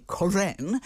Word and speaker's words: Koren: first of all you you pronounce my name really nicely quran which means in hebrew shining okay i've changed it